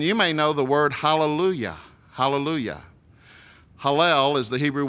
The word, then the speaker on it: hallelujah: And so actually, hallelujah, even though in English it's spelled at the end J-A-H, it's pronounced Y-A-H.